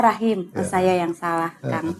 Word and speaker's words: Rachim: Yang pakai C itu siapa yang nulis ya? Enggak, memang pakai C. Oh, ada pakai C. Ya. Tapi dibacanya? Rahim. Oh, Rahim.